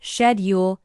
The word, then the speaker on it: schedule: You nailed the pronunciation of schedule, which by the way is usually pronounced shedule in British English.